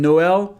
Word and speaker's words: Noël: going to separate them So for example, in ‘Noël’ it's a bit counterintuitive, but that's it We pronounce it like that and we write it